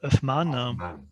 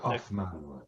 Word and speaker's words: Huffman: La photo suivante, le portrait du pasteur William Huffman. C'est Hoffman. Ouais. Comment est-ce que vous dites, François? Son nom de famille, ça se prononce bien en anglais, Hoffman.